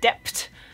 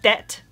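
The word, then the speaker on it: debt: And this is also similar for this word, which a lot of Germans will say dept. It's just det, like, just don't pronounce the B, just forget about the B, pretend it's not there.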